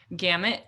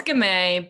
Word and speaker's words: Gamet: So Gamet, Gamet. So I said it wrong. It's Gamet, but I say Gamet, so.